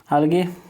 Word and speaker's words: algae: को पता है भाई, आलगे, ठीक है। इसको शैवाल भी कहा जाता है। तो आलगे का स्पेलिंग होता है ALGAE, आलगई, अलगाई ऐसे लिखा जाता है, बट इसको प्रोनाउंस होता है आलगे, ठीक है।